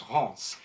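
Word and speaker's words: Reims: to haunts Ross is um spelled Reams but pronounced haunts is is all the way up in past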